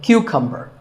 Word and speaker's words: cucumber: it's not a cucumber think of it like saying the letter q and then cumber like number so cucumber this vegetable is called